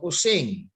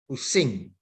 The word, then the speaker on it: Using: Kemudian yang paling timur dari Jawa Timur adalah budaya Osing. Saya menggunakan U ya, bukan O. Karena ejaan lamanya OE. Walaupun orang-orang banyak yang menggunakan O, tapi saya tetap pada U, Using.